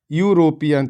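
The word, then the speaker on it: European: इसका हिंदी उच्चारण हम करेंगे यूरोपियन। तो यूरोपियन कैसे शुरू होता है?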